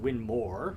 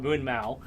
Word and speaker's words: Winmau: we sell a lot of different things from winmau which is actually pronounced winmore but you know most most Americans we'll kind we'll call it Moon Mau um Target shot Dart so we got all